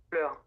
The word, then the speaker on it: fleur: Like EU, FLEU like R. le bleu. It's fleur.